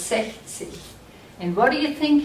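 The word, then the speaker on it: sechzig: hear it try it if you said sexy you were right again say see and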